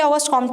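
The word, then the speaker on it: Auguste Comte: देखिए, सबसे पहले ऑगस्ट कॉम्ट आते हैं, जिनको बहुत से लोग ऑगस्ट कॉम्टे प्रोनाउंस करते हैं। प्रोनाउंसिएशन कभी गलत नहीं होती, जैसे मर्जी कर लीजिए, मैं इसे ऑगस्ट कॉम्ट के नाम से ही जानती हूँ।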